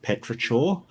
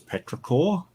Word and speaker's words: petrichor: this word and I kept pronouncing the term petrichor and then I found out it was petrichor and like I told people how it was my favorite I've been pronouncing my favorite word wrong for years like years and it's